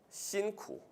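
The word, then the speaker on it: 辛苦: 신쿠. 이거 아직도 푸라고 읽는 사람 없죠? 신라면, 푸라면 없죠?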